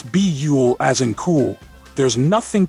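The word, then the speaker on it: Buhl: it is pronounced as beule which rhymes with cool and trust us there's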